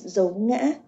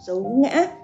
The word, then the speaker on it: dấu ngã: In fact, when you pronounce dấu ngã, you will see the southern accent. They have only five toes only, because they pronounce dấu ngã same as like dấu hỏi.